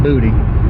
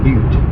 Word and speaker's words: Butte: It ain't booty, or it ain't buddy. It's Butte.